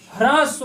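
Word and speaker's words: ह्रस्व: इसका किसका उच्चारण होता है, हा का, हा के साथ में रा का उच्चारण होना चाहिए, ह्रास्व होता है।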